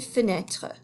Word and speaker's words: fenêtre: That E is silent. Same with this, une fenêtre. So we say une porte, and une fenêtre, une fenêtre.